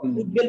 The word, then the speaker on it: উদ্বেল: এ কার উদ্বেল কিন্তু এখানে উদ্বেল শব্দটা উপসর্গ যোগে গঠিত কারণ এখানে প্রথমে উদ একটা উপসর্গ আছে এজন্য এখানে আমাদের ব এর উচ্চারণটা স্বাভাবিক হবে তাহলে এই ছিল মূলত